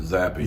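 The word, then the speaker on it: Zappe: Jeff, you talked about Bailey Zapp a little bit yesterday. What makes him so special as a quarterback? Yeah, I believe he pronounces it Zappy. Zappy.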